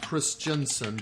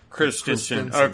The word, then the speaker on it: Christensen: name was orientham uh peter christensen not chris jensen but christians okay and he banned